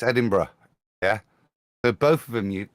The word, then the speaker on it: Edinburgh: Yeah, but it's Edinburgh. Yeah. So both of them, to me, you pronounce the same. You don't say borough or burger.